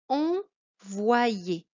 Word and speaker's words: envoyer: Première syllabe, en avec le en dedans. Voix avec la moitié du Y qui donne le I au wa.